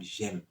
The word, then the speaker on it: JEME: y a un programme qu'on appelle le programme GEM. GEM s'écrit J-E-M-E.